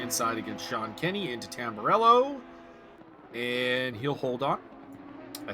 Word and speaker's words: Tamburello: Arsenault is defending the inside against Sean Kenny into Tamburello. And he'll hold on, I think. Yep. Sir, I believe it's pronounced Tambarillo, since this is from España. It's Italian, sir.